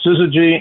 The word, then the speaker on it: syzygy: or maybe more objects than three, but the pronunciation is syzygy.